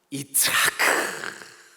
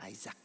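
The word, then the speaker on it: יצחק: 이츠하크. 예? 예. 영어권 사람들은 아이작 이렇게 발음하거든요. 아이작.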